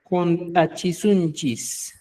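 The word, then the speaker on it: huntachisunchis: junta chisunchis. La H suena como J, ¿no?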